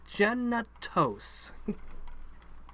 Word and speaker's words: Genitos: But you have to be really careful when you say Genitos to pronounce it and enunciate correctly. Because if you say it quickly, it ends up sounding like you're saying genitals. And it's like, no, Genitos.